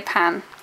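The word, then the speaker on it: パン: not Japanese French but in Japanese they say pan they don't say like a Japanese word that's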